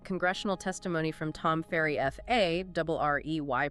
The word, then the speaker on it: Farrey: And this is really where that congressional testimony from Tom Farrey, F A R R E Y, pronounced Farrey, becomes incredibly illuminating.